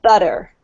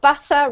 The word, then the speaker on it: butter: New Zealand as well, if you get a T sound, as you can see here in butter, in between two vowels, U here and E, it's actually pronounced like a D sound.